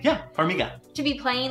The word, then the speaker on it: Farmiga: And I mean, do you ever think that it's weird for the Farmiga sisters, did I pronounce that right? Yeah, Farmiga.